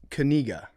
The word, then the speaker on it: Kaczynski: It's pronounced Kaczynski.